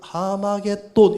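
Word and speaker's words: 하르마겟돈: 그럼 머깃도의 산, 하르 머깃도를 헬라식의 발음으로 읽으면 하르 머깃도를 하마겟돈 이렇게 읽는다 이 말입니다.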